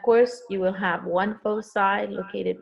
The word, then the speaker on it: foci: All right, so on this one right here, it says the foci or foci. I love the word foci. It has a much better ring to it, but foci is the correct way to pronounce that.